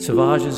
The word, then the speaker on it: Salvages: of Cape an Massachusetts sages is pronounced to rhyme with ases grown up a whistling